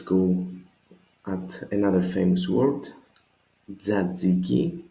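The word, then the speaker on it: τζατζίκι: Tzatziki. You notice this tough zeta diphthong that we just saw before. Tzatziki. 3 syllables again. Tza, zi, and ki.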